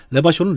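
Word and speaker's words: Revachol: 그 자막에 보면 레바숄은 레바숄이라고 발음하라고.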